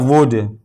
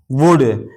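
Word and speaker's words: would: इसी तरह वुड वुड यहां भी डी से पहले एल आया। तो ये एल साइलेंट है।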